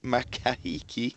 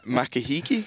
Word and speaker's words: Makahiki: George Lanier and M mahiki and A beautifully pronounced it wasn't it was Dreadful have another go Tom come on makahiki that's it yeah nailed all right